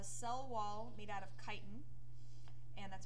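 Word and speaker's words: chitin: they have a cell wall made out of kiten and that's pronounced kiten not chitten and heterotrophic not only are they heterotrophic but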